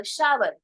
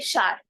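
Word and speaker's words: shower: तो शावर नहीं बोलना, हम बोलेंगे शार। क्या बोलेंगे, शार, सिर्फ बोलेंगे शार।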